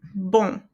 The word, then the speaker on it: bon: So you don't pronounce the N there. You're just going to pronounce um, um. Okay? Just like in bon.